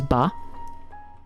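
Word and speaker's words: ば: go so this is ba okay we turn he with tenta into b okay don't you dare pronounce this by it's not by it's b remember this guy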